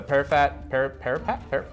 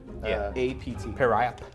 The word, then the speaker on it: periapt: The parapet is called, it's spelled P-E-R-A-A-P-T. Periap. Periap.